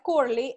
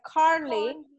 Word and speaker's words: Carly: Entonces tenemos Carly, no es Curly, es Carly.